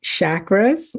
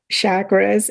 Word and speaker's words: chakra: Chakras? Chakras, or it's more of a harder CH, but people say it both ways, like chakra as opposed to chakra, but you hear it both ways.